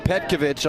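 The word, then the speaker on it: Petković: you've got mirkovich and petkovic on the pit side raised in new york city they pronounced it the serbo croatian way with the itch at the end you've got will polisik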